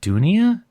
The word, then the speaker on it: Dounia: conference and someone is, is it is it Dounia?